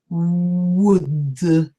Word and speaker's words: would: well that's not correct and not who so no air is coming out I'm just making a sound by opening my lips would and I say would